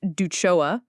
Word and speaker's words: DUCIOA: Ducioa, pronounced duchoa if you want to sound fancy at board meetings, is the state law that governs common interest communities in Delaware.